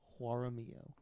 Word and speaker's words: Jaramillo: Juara, and then double L is pronounced like Ly.